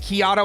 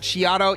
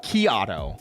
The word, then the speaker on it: Kato: completely different seasons yeah your name is pronounced like Keo and not chiato yep yep it's Kato like a maiato because I'm coffee themed